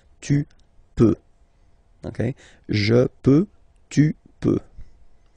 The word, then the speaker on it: peux: Then tu peux, same pronunciation and same spelling or writing, okay, P-E-U-X, okay, you don't pronounce the final X, tu peux, okay, je peux, tu peut.